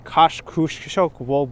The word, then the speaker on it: Kosciuszko: cave bridge or the koshokavo bridge when i was a kid i called it kosciuszko but i think kosciuszko is uh pretty much accurate if you ask ask the polish people photos around new